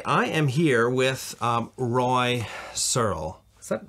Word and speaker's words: Searle: am here with Roy searl is that not pronouncing that right yeah yeah okay good there's a there's an e at the end which is very confusing but it's Cyril um Roy is um